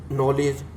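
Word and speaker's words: knowledge: नॉलेज, नॉलेज माने ज्ञान, तो इसमें पहला अक्षर K, तो ये भी पहले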